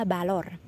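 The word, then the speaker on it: valor: Kemudian ada balor, balor atau value kalau aku nggak salah. Jadi semuanya diucapkan konsonan V diucapkan seperti B.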